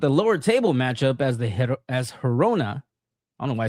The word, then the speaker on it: Girona: Yeah, it actually pissed me off when you said Girona or something. Like, what? Why would you say it like that? Girona.